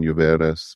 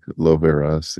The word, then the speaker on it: Lluveras: The primary author is Lindsay, I want to say Laveras. I'm hoping I'm pronouncing that correctly. Yeah, she uses more of a Spanish pronunciation, Lluveras, but okay. I know her mainly as Lindsay Loveras. Yeah.